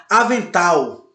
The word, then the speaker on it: avental: Vocês percebem quando a gente fala a palavra, a sílaba mais forte, ela se apresenta com a tonicidade maior, com a dinâmica maior. Avental. Oxítona, embora não seja acentuada, mas a sua sílaba tônica forte é a última.